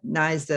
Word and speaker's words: NYSDA: real pleasure to join naisna naisa as i now know it's pronounced the new york state